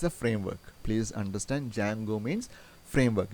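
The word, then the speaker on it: Django: a framework please understand Jango means framework you don't pronounce the letter D Jango is a framework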